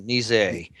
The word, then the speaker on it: Nizet: timothy barnett uh victor nizette and mark jose he calls himself nazi oh nisei uh the french which i haven't french